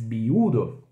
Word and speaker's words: viudo: O som do V em espanhol sempre é somzinho de B, tá? Viudo, viuda. Certo?